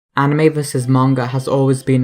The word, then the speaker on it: anime: I hear you asking, what's the difference between anime and manga? First of all, what is anime? Anime is an informal or shortened way of saying animation. It's pronounced a-ni-me. That's the most authentic way of saying it, since anime is